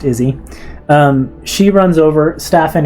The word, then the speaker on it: Isi: ISI, but pronounced Izzy.